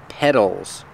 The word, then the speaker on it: petals: have these These are petals that's right we spell it with a t but it's pronounced with the fast D sound petals petals the flower